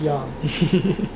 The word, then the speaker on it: yang: It's pronounced yang.